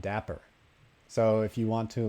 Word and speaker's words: Dapr: So the first thing that I thought of when I started looking at Dapper was there are a few other projects called Dapper that are spelled like this or spelled slightly differently.